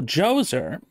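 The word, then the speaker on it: Djoser: second Dynasty then Pharaoh joser oddly spelled with a d j o s e r in modern tongue decided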